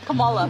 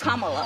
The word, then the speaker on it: Kamala: Earlier you said Kamala. The way she pronounces her name is Kamala.